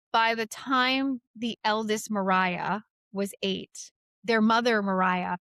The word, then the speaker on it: Maria: So the eldest sister was Mariah. Now it's spelled Maria, M A R I A, but they say it as Mariah.